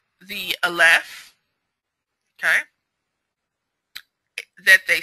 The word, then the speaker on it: aleph: So in original Yahudyath, the aleph makes a ah sound. It doesn't change. It's ah. It actually has a sound.